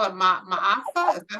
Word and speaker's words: Maafa: I had never, so you call it Ma'afa? Is that how you say it? Thank you, Lyndon. And Marimba Ani Heard that spoke a term. lot about it. Yeah, so it's Mahafa, and they said so instead of calling it